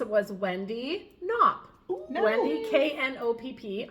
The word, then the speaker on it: Knopp: Wendy Knopp. I'm assuming the K is silent, just like in knit.